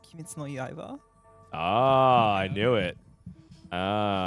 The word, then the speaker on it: Kimetsu no Yaiba: Kimetsu no Yaiba. Any fans? It's actually pronounced Kimetsu no Yaiba.